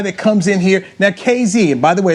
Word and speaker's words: Kazee: here's a guy that comes in here now kz by the way it's pronounced kz like jay-z kz uh torn achilles in week